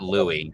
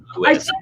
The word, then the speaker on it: Lewis: But that's like obvious that is not Louis. That is Lewis.